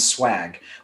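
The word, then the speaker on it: schwag: The URL is Swag, which is spelled S C H W A G. So that's swag.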